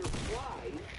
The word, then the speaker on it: Fries: which we see Victor Fries. Yeah, for some reason they changed his name, so now it's pronounced like French fries.